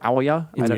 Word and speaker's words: Ouya: how you pronounce it is it Ouya or Aya Ouya yeah like the Marin say